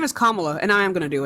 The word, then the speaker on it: Kamala: No, you're gonna say Kamala.